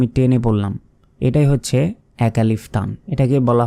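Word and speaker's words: حاء: আলিফ বা তা সাম তারপর হা আমরা অনেকে এই অক্ষরটি বাংলায় আমরা যেমন এই যে হ আকারে হা রয়েছে এইটা উচ্চারণ করি এটা কিন্তু সম্পূর্ণ ভুল কারণ এটার সঠিক উচ্চারণটি হচ্ছে হা মানে গলার ভেতর থেকে উচ্চারণ হবে গলাটা একটু চাপ দিয়ে ধরবেন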